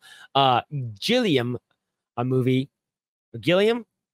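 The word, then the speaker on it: Gilliam: uh gillium a movie gillium pretty sure that's how you say it Time Bandits it's now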